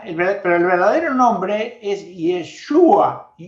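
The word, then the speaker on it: ישוע: La segunda venida, pero el verdadero nombre es Yeshua o Yoshua. Yoshua sería la pronunciación correcta en hebreo.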